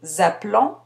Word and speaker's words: appelons: Attention avec nous appelons, vous appelez, je prononce la terminaison et le verbe s'écrit avec un seul L.